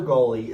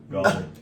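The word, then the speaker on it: Gauley: I don't know about that, but you're mispronouncing it. Gully? I know you're a Virginia guy, but Fuck off. golly, It's golly.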